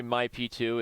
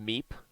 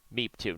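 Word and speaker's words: Mi P2: Sorry, My P2. It's pronounced Meep. Meep. There you go. It's Meep. Meep. Meep 2, not My P2.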